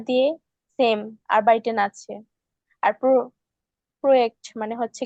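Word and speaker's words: Projekt: আর প্রোয়েক্ট মানে হচ্ছে কি প্রজেক্ট। ঠিক আছে, কারণ যে কে আমরা হচ্ছে ইয়ট বলি, এই জন্য এখানে প্রোয়েক্ট উচ্চারণ হবে।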